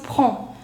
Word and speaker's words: prends: See, D and S both are silent. EN, the pronunciation is on. So it becomes prends.